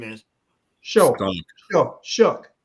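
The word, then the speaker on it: Shough: The way it sounds is not the way it's spelled.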